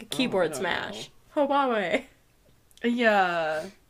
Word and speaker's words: Huawei: Huawei. Yeah, it's an H that maybe you say more like a W.